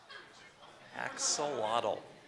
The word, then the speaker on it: axolotl: as an adult salamander axolotl axolotl any other pronunciations of that word just the one axolotl axolotl I'm gonna